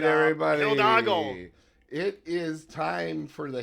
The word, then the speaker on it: Hidalgo: there were so many times that I wrote Hiladago, Hidalgo. That's not the way it's spelled. It's not. It's Hidalgo.